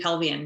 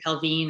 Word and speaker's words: Pelvian: not everybody gets especially pelvian most people say pelvin or pelvini brilliant because um i know sort of like because it's kind of like a french frenchy kind of term isn't it yeah it's